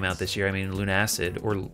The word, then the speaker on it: Lunacid: I guess of the games I played that came out this year, I mean, Lunacid, or Lunacid, as some people have told me it's supposed to be pronounced, because Lunatic, Lunacid, but I think